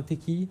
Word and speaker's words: Tequi: Et donc Tequi, consultant, je dis bien ça, un Tequi. C'est ça. C'est le bon nom. Enfin, c'est la bonne prononciation.